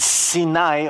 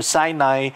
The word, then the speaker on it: Sinai: said sne tree and sinai or sinai rhymes with the hebrew word for test i want you to